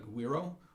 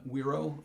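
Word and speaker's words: güiro: latin latin american instrument called aguero uh weiro the g is silent um pronunciation is not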